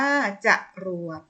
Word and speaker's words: จรวด: รอ ลิง วอแหวน เช่น คำ ว่า จรวด จรวด อ่าน ว่า จรวด ขอ อนุ ณา อ่าน